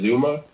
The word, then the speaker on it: ZooMaa: So his name is Zuma, Zoomaa, spelled like a weird way, right?